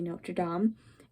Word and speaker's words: Notre Dame: So when you're talking about the cathedrals of Notre Dame, you say Notre Dame.